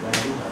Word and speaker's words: Dayuhan: Dayuhan, let's stress the second syllable.